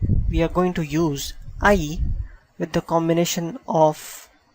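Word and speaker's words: hay: with the word called ie you can pronounce it as I H remains silent and this is I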